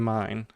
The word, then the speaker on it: mine: So mine is min because I is okay. pronounced Mean. E, so min.